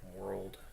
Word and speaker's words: WRLD: The others have been by a guy named World. So that's spelled World basically without the O, so WRLD.